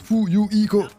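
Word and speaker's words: Fuyuhiko: au nom de la famille mon prénom se prononce fou you IKO je suis encore totalement inexpérien en ce qui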